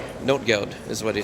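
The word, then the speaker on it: Notgeld: fantastic presentation i know a little bit about not guild note goud is what he said note goud is how it's pronounced um so yeah that was a fantastic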